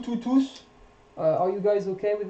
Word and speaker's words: tous: So here you don't pronounce the S tous les jours. You don't pronounce the S because it's an adjective. Here you do pronounce the S because it's a pronoun. Tous sont venus.